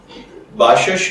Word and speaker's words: باشش: Topic باشش کی جانب۔ باشش کی اردو املا میں جو حرف استعمال ہوتے ہیں وہ ہیں بے الف با، شین زبر شین شش باشش، جبکہ انگلش میں اس